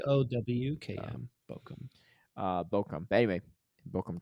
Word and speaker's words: Bochum: Maybe it's It's pronounced like Bowkm.